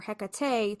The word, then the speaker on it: Hecate: So, it's just the two syllables. So, in fact, early English translators of ovid use that exact spelling, which is h e c a t. It wasn't until later centuries that the three syllable heat or hecate took hold, which is why you'll still hear both versions today depending on whether someone's